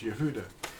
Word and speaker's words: Yahudah: This man existed under another name, and it's Yehudah. In fact, the name Yehudah, I'm going to show you what that is spelled like in English.